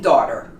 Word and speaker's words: daughter: How about daughter? Not an easy word. It looks very strange because there are many consonants together. But the G is silent in daughter.